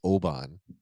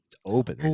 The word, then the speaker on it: Oban: uh we all we all in the US pronounce as Oban Scotch. Oban Obin. That is correct. Before before Jimmy told me this, I did say Oan.